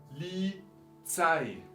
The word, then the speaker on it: Polizei: Polizei. Palabra extranjera, policía. Ya la conocemos del español. Entonces, polizei. Última sílaba que acentuamos con palabras extranjeras.